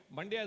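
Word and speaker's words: Mandya: any district in India it rhymes with India it's called that you're aware of Right. Mandaia is a classic district with about 20 20 lakh population.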